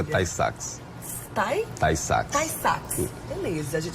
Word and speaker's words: Tay-Sachs: A pronúncia é Tay-Sachs.